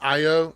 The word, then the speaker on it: Io: But, it's pronounced IO.